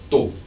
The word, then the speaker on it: tô: Notice how the Brazilian sister says tô, the short form of estou, meaning I am. Tô. It sounds like there's a lot less aspiration the way she pronounces the T.